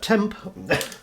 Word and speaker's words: Temp: Now these are all designed and produced by an Atari Age Forum member who I know only as Temp, and it's spelled TMP.